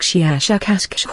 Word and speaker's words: Shiashakasksh: of your human letters, something like Shiashakasksh with a very, very strong pronunciation of the SH and K sounds.